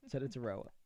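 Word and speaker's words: Tetairoa: At 8, with the Panthers, I have them taking Teta Taroa McMillan. I wanted to pronounce that right. Teta Taroa.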